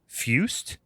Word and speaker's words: Fuest: It's directed by Robert I think his last name is Fuest, is how it's pronounced.